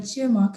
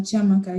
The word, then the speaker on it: Chiamaka: Thanks for being here, Chiamaka. And am I pronouncing that properly? Yeah, you're good. Chiamaka, yeah, Chiamaka, you're doing well.